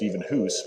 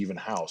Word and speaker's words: Evenhuis: it's it's we it's if you were if you were in Holland it would be pronounced even whose but when my parents came to America they wanted to uh English eyes that I guess you would say so the the approximation would be even house so that's how I